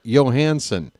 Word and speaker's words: Johansson: And it's because of Kalle Johansson that whenever Scarlett Johansson showed up, I have always called her Scarlett Johansson, because that is how that name is pronounced.